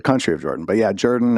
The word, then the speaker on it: Jordan: But yeah, Jordan is like an old southern pronunciation as my dad used to say.